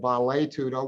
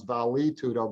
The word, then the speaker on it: Vale Tudo: blending on the Brazilian term of Vale Tudo, which most Americans pronounce Vale Tudo.